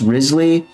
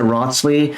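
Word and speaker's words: Wriothesley: pronounce is it okay my friends tell me his name is pronounced rly um I before this live stream I pronoun it rosley I didn't actually watch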